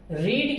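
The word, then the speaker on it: read: Second और third form को हम रेड बोलते हैं, ठीक है।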